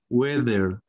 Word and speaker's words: weather: Se escribe water, pero es weather, ¿sí? Recordemos que la TH en inglés suena como weather, ajá, como esa Z española que les expliqué el día de ayer, weather.